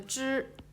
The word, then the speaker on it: 知: when we rate the 知吃诗日 so we need to curl the tongue slightly, but not too much, just a small curl with the tongue raised.